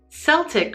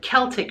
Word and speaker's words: Celtic: “Seltic” or “Selt” comes from the French pronunciation and “Keltic” or “Kelt” comes from more from the Greek pronunciation.